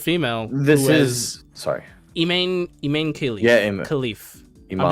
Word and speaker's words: Imane: And that's why their name is actually, their first name in real life is actually Iman, but it's spelled Imane.